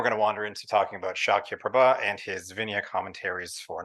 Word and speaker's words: Śākyaprabha: tell who's done Sanskrit when they pronounce the title of your thing and they say the name shakya prabha correctly um thank you everybody